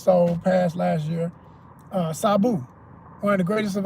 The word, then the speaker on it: Sabu: just that dude and I'm going to say his name right. Not that Saboo that, you know, even he said cuz he know ignorant ass Americans couldn't pronounce it, so he just let him do whatever. And I'm like, man, say the name right. This Sabu.